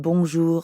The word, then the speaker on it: bonjour: add the second part notice how the j in bonjour sounds a lot like the middle of the english word measure and the r at the end of ju doesn't really sound like an english r you should feel that r in your throat yeah almost like you're